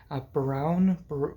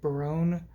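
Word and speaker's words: Berowne: these other three men Baron Baron I think is the pronunciation uh Baron I think is maybe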